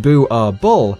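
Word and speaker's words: Boerboel: Boerbul, pronounced Boo-ah-bull, is a Dutch Afrikaans word for farmer's dog.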